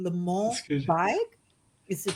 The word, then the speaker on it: Le Mans: You have to help me with the pronunciation. Le Mans That's good.